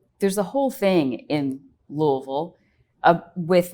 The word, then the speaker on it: Louisville: in Kentucky um yeah she was like oh no that's not how you say it you say Louisville like well I am from there but yeah moreal the stories that people say it a little bit differently not everyone says it the same I think so I think